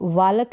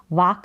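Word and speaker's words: walk: love यानी प्यार करना वॉक वालक नहीं होगा क्योंकि एल यहां पर साइलेंट है वाक भी नहीं होगा वॉक करके होगा टहलना वॉक करना फिर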